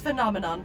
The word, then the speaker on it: phenomenon: How to pronounce phenomenon. First say fem, but replace the M with an N. Then say non, but replace the last N with an M. Nom.